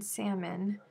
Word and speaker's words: salmon: who i am okay the l in salmon the name of the fish is not pronounced it has to do